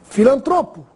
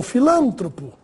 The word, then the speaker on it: filantropo: Filantropo e não filântropo.